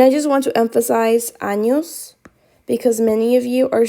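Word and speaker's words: años: in the spanish alphabet it is not pronounced like an n it is pronounced like because annos means something entirely different okay 46.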